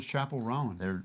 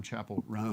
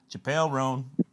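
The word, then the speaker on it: Chappell Roan: Well, I had a fun little riff where I was saying Chappelle Roan, like Chappelle Show. Chappelle Roan, but then somebody pointed out it's not pronounced that way.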